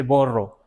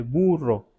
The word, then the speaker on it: burro: Como esto que dice, no se dice borro, se dice burro, ¿sí?